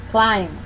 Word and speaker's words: climb: Rule 5. When the B is located after the M in the same syllable, it will be silent. Here are some samples. Bomb, climb.